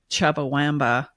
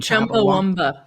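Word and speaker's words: Chumbawamba: And this is Tubthumping by Chubba Wamba Womba. Chamba. I don't even know how to say their name. Chumba Womba.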